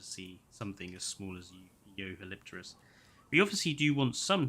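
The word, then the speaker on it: Jeholopterus: I've never heard Yehalipterus pronounced like that. Well, it sounds really awkward to pronounce it J-Holopterus. Or G-Holopterus. I think Yehalopterus sounds better.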